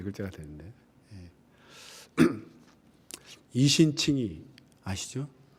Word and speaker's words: 이신칭의: 로마서어 이렇게 하면 네 글자가 되는데 이신칭이 아시죠? 이신칭의 이신칭이라고 발음하는데요.